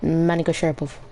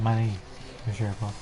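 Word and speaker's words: Magomedsharipov: No, you said it wrong the first time. That time it was right. What did I say the first time? You said like Mani Sharapov.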